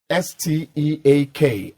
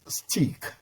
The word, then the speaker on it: steak: stake made and bake if you've been pronouncing s-t-e-a-k as stick you are wrong it is steak and you get to